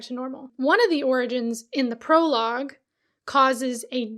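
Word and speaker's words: Orogenes: Yeah, it looks like jeans, but she pronounces it like origins.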